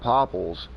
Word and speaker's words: popple: But when you clear cut, you know, when you clear cut popples, poplar, popple, however you want to pronounce it. Up here, you know, we got a lazy tongue, so they use a lot of it's they ain't poplar, it's popple.